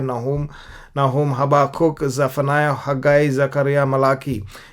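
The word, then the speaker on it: חבקוק: हबाकुक भी खावाकुक का साउंड है, कव्वाली जैसा का साउंड है। ये खा नहीं, हा नहीं, लेकिन हवाकुक, हबाकुक बोल सकते हैं हिंदी में, लेकिन इब्रानी में ऐसे बोलते हैं।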